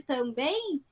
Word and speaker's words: também: E aí, se a gente fosse escrever o som de também, esse em aí no final seria assim, ó, ei, porque na hora que a gente fala esse M, sai o som do I também, tá?